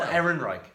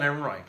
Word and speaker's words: Ehrenreich: main character playing console oh hang on I'll pronounce it right I didn't want to say Alden I'm like Oh Ehrenreich Alden Ehrenreich yeah well done Ehrenreich yeah I like him